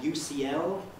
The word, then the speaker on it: UCL: it for a moment i know several japanese learners of english who say something much more like you shiel i thought it isn't